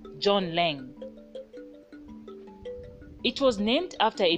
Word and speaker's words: Laing: as john lang however even though the correct name of the compound is john lang zambians have adopted john lange as the name this is because many had problems pronouncing the correct form of the name lange you